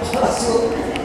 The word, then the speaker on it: parachute: Magdudrawing kayo ng parachute. Parachute, alam niyo parachute? Oh? Ang pronunciation iba parachute, hindi po parachute, parachute.